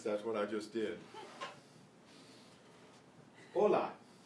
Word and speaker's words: hola: The H is silent except in the combination CH.